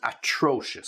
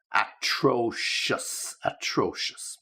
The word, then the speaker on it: atrocious: you are terrible and atrocious. So just be careful with the pronunciation of that. Terrible, easy, but atrocious, okay, just to make sure you get the right stress.